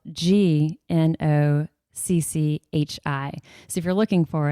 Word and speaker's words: gnocchi: it yet, it's spelled g n o c c h i. So, if you're looking for it, that'll kind of help you know what to look for. Gnocchi, it's got the silent G, so it's g